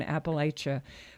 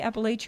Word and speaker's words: Appalachia: who who've never been do you say Appalachia or Appalachia either pronunciation is technically correct but in